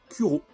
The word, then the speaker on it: Cujo: Teague, donc voilà, donc c'est Kuro, ou Cujo, je sais pas comment vous le dites, mais je crois qu'on prononce Kuro.